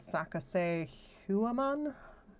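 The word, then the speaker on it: Sacsayhuaman: One is Saka Huaman. That is an old ancient site. It's spelled S A C S A Y H U A M A N.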